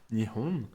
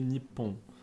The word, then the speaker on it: Nippon: du Japon en japonais, Nihon. Mais en fait, les journalistes, ils utilisent une autre prononciation de ces deux kanji qui est Nippon.